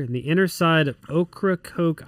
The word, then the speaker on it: Ocracoke: the inner side of okra coke island north carolina is that did i pronounce it right now pronounce it perfect that's an indian uh name heritage name cool so uh so ocracoke island off north carolina